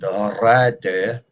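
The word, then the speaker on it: rǣdde: Thā sat se koning on tham tuna, and rādde mid tham witan. Then the king sat in the town and took counsel with the wise men. Just note, both D's are pronounced.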